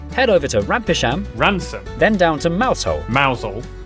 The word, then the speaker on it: Rampisham: Starting in Biaulio, Beauty, head over to Rampisham, Ransom, then down to Mousehole.